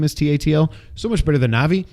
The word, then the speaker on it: Tatl: And as soon as my little fairy, by the way, Tattle or whatever you say his name is, Tatl, so much better than Navi because he's not, hey, listen.